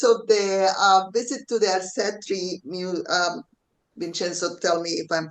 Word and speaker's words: Arcetri: And in terms of the visit to the Arcetri, Vincenzo, tell me if I'm pronouncing it correctly. The Arcetri Observatory.